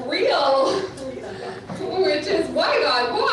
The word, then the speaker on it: Riel: very long time so my last name is pronounced real which is why God